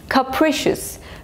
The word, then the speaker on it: capricious: Capricious. Capricious. So the stress is on the second syllable.